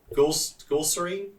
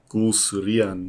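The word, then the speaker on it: Guleserian: Director of photography John Gulserine. Or you're better pronouncing these. Yes, it's Gulserian.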